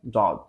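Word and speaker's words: ض: অতঃপর আসছে হচ্ছে দদ। দদ বলার সময় আমাদের খুবই ডিফিকাল্ট একটি হরফ হচ্ছে দদ অ্যারাবিকের মধ্যে, তো এটা বলার সময় খুবই খেয়াল করে বলতে হবে, মাখরাজ ফলো করে বলতে হবে।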